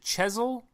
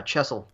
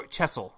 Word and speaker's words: Chesil: is um you said is it chisel yeah chesil Oh chesil okay so on chesil beach